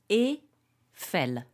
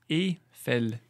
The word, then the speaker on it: Eiffel: So Eiffel. Eiffel. So there's no E sound. It's not E, it's E. Eiffel.